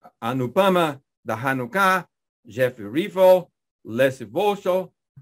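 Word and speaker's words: Vosshall: And then we have Anupama Dahanuka, Jeff Rivo, Leslie Vosso. For 15 or 20 years, I pronounced that name wrong, but I didn't know that the H is silent. Leslie Vosso, Zain Said, and Kedong.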